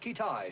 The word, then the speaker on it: Kitaj: Have we located this fella Kitaj yet? Pronounced Kitai, sir.